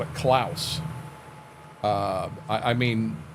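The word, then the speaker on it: Claas: is the the klous and they call it class uh we've always called it klous uh I I mean right wrong or indifferent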